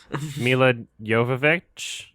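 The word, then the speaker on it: Milla Jovovich: Mila Jovovich.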